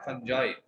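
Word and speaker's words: fungi: अच्छा, फंजाई का बच्चा पूछ रहा था, फंजाई वर्ड याद रखें, मतलब इसका प्रोनाउंसिएशन क्या है? फंजाई।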